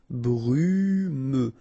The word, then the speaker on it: brumeux: Okay, final X not pronounced, so you get this E and then U. Brumeux.